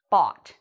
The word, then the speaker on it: bought: done that down here b-a-w-t bought so this is the pronunciation and this is the correct spelling again it is the